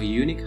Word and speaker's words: unique: Bukan unik, tapi a unique house karena bunyinya konsonan u.